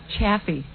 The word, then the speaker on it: Chaffee: By the way, it's Chaffee.